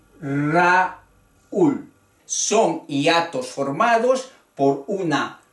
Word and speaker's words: Raúl: Río y Raúl parecen palabras simples de una sola sílaba, pero son palabras de dos sílabas. Río, Raúl.